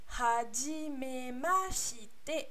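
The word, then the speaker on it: はじめまして: Le H se prononce, le E se prononce E, le U se prononce OU. Et autre petite. Comment je pourrais dire ça? Autre chose à faire attention, c'est le R qui se prononce plus comme un L.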